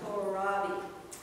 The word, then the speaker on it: kohlrabi: There's those Brussels sprouts, cabbage, and how do you pronounce that? Kohlrabi? Kohlrabi.